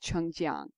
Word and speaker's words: Changjiang: as i know the correct chinese prince pronunciation of it should be uh changjiang because it's j-i-a-n-g right yeah yeah that's gian